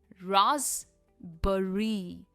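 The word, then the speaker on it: raspberry: Next है राजबरी। राजबरी। हम बेरी नहीं कहते। यह है राजबरी। राजबरी। कोई भी बेरी हो इसकी एंड में प्रोनंसिएशन हमेशा बरी होती है। नॉट बेरी।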